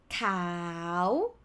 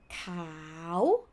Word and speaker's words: ขาว: But let's start simple, he or she, เขา But this one ค่ะ if you pronounce with the vowel sound long, it will be ขาว which mean white.